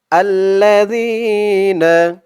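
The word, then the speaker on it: الَّذِينَ: পড়তে হয় আল্লাজি আর এখানে জালের উচ্চারণটা একদম নরম পাতলা করতে হবে জিহ্বার মাথা উপরের দাঁতের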